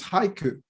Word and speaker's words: haiku: so yeah but um the pronunciation is haiku okay very singular okay now I feel better I and try to try not to say hi in plural okay fair oh you